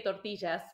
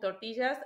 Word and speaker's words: tortillas: I have to say tortillas because that's how we pronounce it in Argentina where I'm from the Double L will